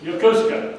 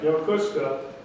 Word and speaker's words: Yokosuka: You know what I learned about how do you pronounce it? Yokosuka. Yokosuka.